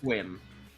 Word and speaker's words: Sequim: It's not how you think it's pronounced. Sequim? Nope. Equal. Nope. Succumb. I mean, Squid. Of course, Not Dave. Squim.